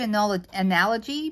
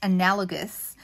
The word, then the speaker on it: analogous: to say it right so it's like the word anal analogy but it's analogous and analogous means three